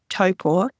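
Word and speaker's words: Taupō: it is to say toe is in toe on your feet and poor is in poor of a cat so if you can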